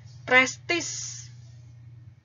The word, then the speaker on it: prestige: Prestis. Maaf. Itu bacanya prestis ya, tulisannya prestige gitu.